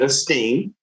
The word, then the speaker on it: aSTEAM: Yes, so it is aSTEAM Village. Phonetically like aSTEAM, right?